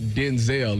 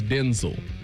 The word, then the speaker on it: Denzel: It's not Denzel, it's Denzel.